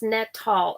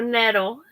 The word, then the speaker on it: nettle: Rhymes with kettle. Okay, so nettle.